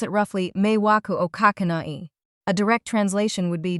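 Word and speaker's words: 迷惑をかけない: You pronounce it roughly, meiwaku o kakenai.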